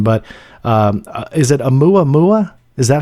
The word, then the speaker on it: Oumuamua: were, and I'm probably going to botch the pronunciation, but is it Oumuamua?